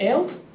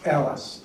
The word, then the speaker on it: Ailes: I had is Ailes okay thank you it's pronounced Alice you got it I'm